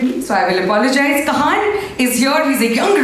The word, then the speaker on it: Kahaan: Your name is pronounced as Kahaan or Kahaan? Kahaan. Kahaan.